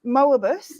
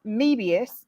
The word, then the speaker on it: Möbius: just cleared it up it's moobus is if it's in the US and it's mebius if it's in the